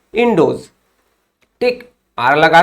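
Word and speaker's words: Ἰνδός: तो ग्रीक जो है रिवर इंडस को किस रूप में प्रोनाउंसिएशन करते थे या फिर पुकारते थे, बोलते थे, तो वो था इंडोज।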